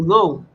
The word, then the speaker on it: know: cho que uno tiene por qué se escribe con K si no se pronuncia to know, conocer.